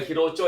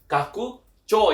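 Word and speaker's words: 拡張: Cara bacanya adalah bukan hiroco ya, tapi kakucho yang artinya itu adalah perluasan atau ekspansi ya.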